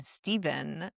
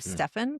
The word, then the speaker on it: Stephen: the conversation with Nike, they pronounced his name Stephen instead of Stephen Curry.